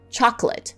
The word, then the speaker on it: chocolate: For example, chocolate with 3 syllables versus chocolate with 2 syllables. Did you hear the difference?